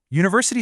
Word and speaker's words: university: University starts with the vowel letter U. Sure, but we pronounce it with a hard consonant sound U.